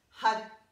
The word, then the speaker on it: Har: It's spelled H-A-R, but we roll the R. We want the tongue to hit the roof of the mouth. Roll the R. It sounds more like a D.